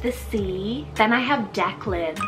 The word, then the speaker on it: Declan: irish god of the sea then i have declan spell d-e-c-k-l-a-n or you can do d-e-c-l-a-n now